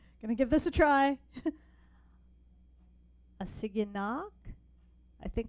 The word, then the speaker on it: Assiginaak: give this a try a singing knock I think with the double a it's a long a so a city knock okay so she is